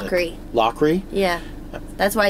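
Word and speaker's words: Loughrey: So better videos, helping for everyone, paying for the co-producer, basically like, who's his name's Lowry. Do I pronounce that right? How do you pronounce it? Lockery.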